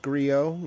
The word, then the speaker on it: Griot: It is pronounced Griot, in case everyone else doesn't know, T is silent.